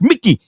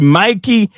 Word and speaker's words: Mikey: I was told that's the pronunciation is Mikey, not Mickey.